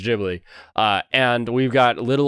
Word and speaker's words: Ghibli: the ghibli museum she just told us it's pronounced ghibli uh and we've got little old obasan that